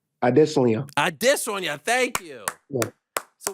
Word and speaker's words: Adesanya: Can you tell the world how to pronounce Israel's last name? Adesanya.